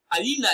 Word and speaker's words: hyena: Hyena is stressed on its second syllable as hyena.